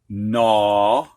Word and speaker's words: gnaw: Previously, the H was silent, but now we've got GN at the beginning of a word, and the G is silent. Gnaw, gnarl, gnat, gnash, new.